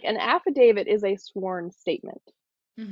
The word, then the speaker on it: affidavit: they say affidavit as after David, and that one kills